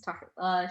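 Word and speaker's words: Tahereh: Yeah, it's Tahira.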